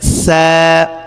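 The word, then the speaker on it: ث: হরফটি আমরা দেখতে পাচ্ছি হরফটির নাম হচ্ছে সা পাতলা করে উচ্চারণ হবে আমরা যদি সা দুই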